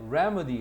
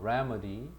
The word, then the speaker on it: remedy: 그다음에 remedy r라 발음해라. remedy 해결책 개선체 치료야 동사죠.